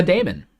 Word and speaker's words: daemon: Because it is a daemon, or a demon, or however you want to pronounce the AE for demon, or daemon.